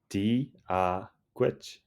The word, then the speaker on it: Dia dhuit: Let's practice the pronunciation together. For dee-ah repeat after me. Dee-ah gwit.